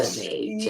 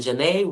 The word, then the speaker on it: Xanet: Janae, Yes, Janae, Xanet.